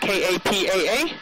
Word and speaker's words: Kapa'a: Each letter is pronounced individually. So if you go up to the town of Kapa'a, it's spelled K-A-P-A-A, so it's Kapa'a.